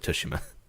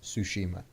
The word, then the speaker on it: Tsushima: a flute and then we'll show girls of Toshima okay I'm like I'm gonna protect us in